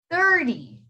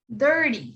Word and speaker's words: thirty: this time it's different the t it has a r before it do you see the r the t has r before it so you're gonna pronounce that t as a d 30 that's 30.